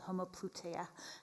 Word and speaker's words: homoploutia: You've in your forthcoming book, you write about a new concept called homoploutia. Am I pronouncing it correctly? Yes.